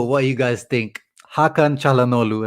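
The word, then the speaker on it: Çalhanoğlu: you guys think hakan chalanolu as i said that's how you say his name properly no g what do you what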